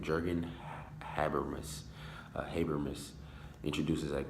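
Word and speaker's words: Jürgen: and his social critic jargon that's how you pronounce the name Jurgen Habermas Haber miss introduces that comprehensive theory of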